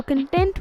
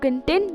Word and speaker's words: content: breakfast they had to content themselves with what was available got it remember first syllable stress for the noun second syllable stress for the adjective and verb finally let's talk about